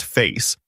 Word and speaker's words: Faiss: And when we get into Faiss, Facebook AI Similarity Search, pronounced Face, in the next scene, you'll see how these indexes can bring it all together.